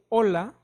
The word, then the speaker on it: hola: for example the word Hola hola VH is not pronounced you are only reading or saying the dealer o l and a hola so the H is totally silent next is letter i